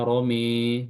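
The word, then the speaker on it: رمى: Lafzo Roma dibaca Romi, ya.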